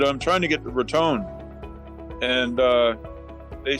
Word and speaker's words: Raton: And from Conchas Lake, I was going to go to Raton, which is actually spelled Raton, but they pronounce it Raton, Raton.